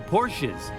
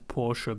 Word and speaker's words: Porsche: You all get brand new Porsches.